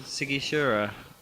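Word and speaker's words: Sighișoara: Well, we went to a place called Sigishura.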